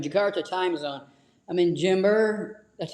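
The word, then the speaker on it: Jember: I'm in Jimber. That's how you pronounce it.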